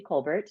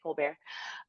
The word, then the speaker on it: Colbert: um so I'm Brandy Colbert thank you for pronouncing my name correctly that was great a lot of people say Co bear um yeah I am